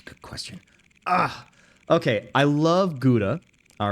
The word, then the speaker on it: Gouda: Okay, I love Gouda, all right? I know the Dutch pronounce it Gouda.